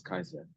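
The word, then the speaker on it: Caesar: a but the old the old Latin C was always a hard C they didn't have cisero they had Kiko it wasn't Cesar it was Kaiser it wasn't ocean it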